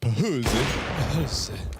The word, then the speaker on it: Fuzi: I like that Jaber dropped the orb for Fuzi. Got the big green in round two. Actually pronounced Pahuzi. That's how the Swedes would say it.